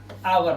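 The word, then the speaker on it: hour: देखिए ओ से पहले एच आया तो इसे हम पढ़ते हैं क्या? आवर मतलब घंटा।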